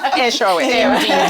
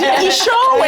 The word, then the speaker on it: Eshowe: I'm from a small little town in northern KwaZulu-Natal called Eshowe, pronounced correctly. Eshowe. Eshowe.